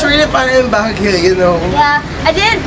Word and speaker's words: Baguio: It's Baguio.